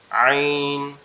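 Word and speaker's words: عين: এটা একটু গলাটা চাপা আওয়াজ হবে, ঠিক আছে, গলাটা একটু চেপে মানে একটু শক্ত করে বলতে হবে আইন, আইন, আইন এরকম বলে।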